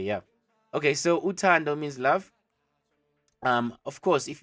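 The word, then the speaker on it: uthando: Utando, like a door, but you add an N so that it's on the throat.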